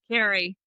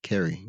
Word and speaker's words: Kerie: Carrie. Carrie. Okay. Feel like I should pronounce the I and the E. But Kerry.